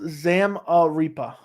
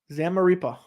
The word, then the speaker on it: Zamaripa: It's pronounced Zamaripa. Zamaripa.